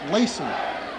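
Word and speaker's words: Lacz: He spells his name L-A-C-Z, but it's pronounced Lacey.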